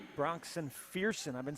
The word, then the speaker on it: Fearson: Yeah, when we was a freshman, I used to say, "What's up, Ferson?" I say, "Bro," he said, "Bro, it's Fearson."